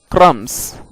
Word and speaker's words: crumbs: जैसे कि B silent होता है CRUMBS, क्रम्स।